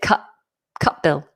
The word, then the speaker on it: Cutbill: Now, I have actually been dropping the T. I don't know if that's how Will would want his name to be pronounced, but because we've got a T and a B, Cutbill, the T would automatically become more glottal. We drop it, Cutbill.